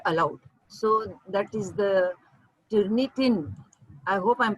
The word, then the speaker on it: Turnitin: definition etc are allowed so that is the tyranitan i hope i'm pronouncing it correctly yeah yeah turnitin is a tool to check plagiarism thank you